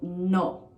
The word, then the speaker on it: no: Now, you may be tempted to say no, like in English, how it's spelled, but the pronunciation is no. No. For example, sit down no, sit down no. And usually this no, it goes up. Like the intonation is kind of high.